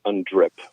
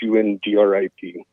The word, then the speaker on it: UNDRIP: out of Canada called undrip and it it's spelled the same way it sounds un driip that's basically transferring all